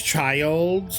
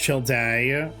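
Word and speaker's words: Childe: they were like, "Oh, his name is Child." when like we all thought it was going to be pronounced Chill Day cuz there was a E at the end.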